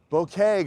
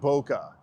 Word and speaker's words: bokeh: Um cuz it just Bokeh, guys. It's bokeh. It's like bakuhotsu. It's bokeh. It's like you're it's wrong you got it wrong. Let's fix it. Tell your friends, bokeh not boca.